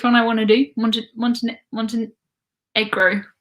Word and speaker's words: Montenegro: Montenegro probably would be how I would say it, but some people say egro. I think Americans say E, and then everyone else says eh.